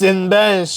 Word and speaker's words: Cinebench: Is it Cinebench? It's Cinebench. Yeah, say it is Cinebench. It's a Cinebench.